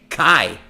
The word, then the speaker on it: cake: E para que tem esse não é pronunciado? É para fazer aquele efeito entre vogais que vocês já ouviram algumas lives dessas ou estão no nosso curso, sabe que uma vogal afeta a outra, da noção original E, I, A, U. No caso, esse E não é pronunciado só para isso, para não ficar cac, que é o outro som da letra A.